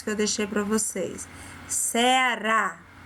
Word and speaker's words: Ceará: Ceará, observou? Vovó. O som fica aberto e a sílaba que está acentuada, ela é falada de forma mais forte. Quando a gente pronuncia essa sílaba, a gente fala com ênfase, com força.